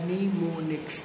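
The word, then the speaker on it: mnemonics: There are number of strategies for improving memory, इसको बोलते हैं हम लोग निमोनिक्स, ठीक है, pronounce as निमोनिक्स, निमोनिक्स to help you improve your memory.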